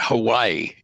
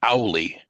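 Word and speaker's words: hale: Not it's not Hawaii. It's Howie like a dog howling.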